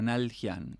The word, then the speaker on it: Naldjian: No, por ahí a veces lo que pasa con la D en el medio, como que a veces parece como que se dificultara. Así que digo, bueno, Nalhian directamente.